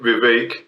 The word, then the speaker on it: Vivek: actually of the guy whose name rhymes with cake Vivek um he just seems